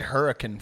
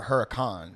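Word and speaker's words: Huracán: a I said Hurrican forever and I just never it's just a Huracan it's you know um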